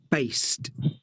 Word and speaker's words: based: Ascoltate adesso le due con la T. Tie. T. Based. Produced. Sottile, eh? Sì, Non è così chiara.